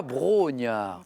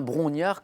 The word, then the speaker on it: Brongniart: la bourse de paris parce que l'on entend parfois brogniart mais ce qui est bien brongniart comme enrique la prononcer